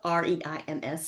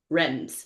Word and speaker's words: Reims: It's spelled R E I M S. So I would I would used to say it Reims, right? Yes. Corrected many times in France, Reims.